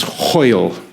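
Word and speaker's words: hwyl: one word and it's hoil can you repeat after me ho ho ho it rhymes with loyal it's like a gutural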